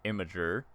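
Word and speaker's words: Imgur: lot of people use inger to do a screenshot apparently it's actually pronounced imager but uh in game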